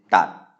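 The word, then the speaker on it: ตัด: It's going to have a low tone again because it's mid-class, Totao, it's Maihanagad and Dordek. So this is tat, and this means to cut.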